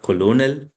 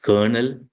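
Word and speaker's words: colonel: And let's say pronunciation, it is not colonial, it's kernel, it's not salmon, salmon, it's not subtle, it is subtle.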